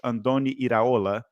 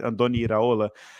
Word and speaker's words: Andoni Iraola: especially with their coach, Andoni Iraola. I think I said it right. He's Spanish, so usually I get Spanish names right. Andoni Iraola.